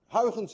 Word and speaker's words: Huygens: a very different way hens by the way is difficult to pronounce anyone of you who knows how to say hens correctly is also Dutch because you missed the i in your language and you miss the in